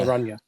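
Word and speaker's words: Araña: It's an inya, so it's a ny sound. So Yeah. Aranya.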